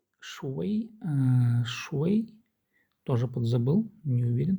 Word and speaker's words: 谁: 谁 Шуэй. Шуэй. Тоже подзабыл, не уверен. Так, смотрим. Да, произносится шуэй.